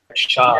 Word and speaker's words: Char: Did you know that my surname is pronounced the exact same way that Char is pronounced? Oh, okay. Shah.